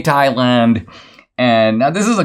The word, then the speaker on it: Thailand: I pointed out, first of all, that virtually everybody on the entire continent of South Asia pronounces it Thailand. They pronounce it the way it's spelled. They pronounce the H.